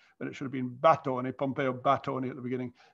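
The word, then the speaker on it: Batoni: Edward Cheney, who used to be in Florence a lot, an old friend of mine, has corrected me for mispronouncing Bastoni, but it should have been Battoni, Pompeo Battoni at the beginning.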